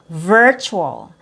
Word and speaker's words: virtual: Virtual has the letter i in the spelling like visit. Visit. But v i and v. Visit has a short i sound. I v. But here we don't have virtual virtual. This is a very heavy R sound.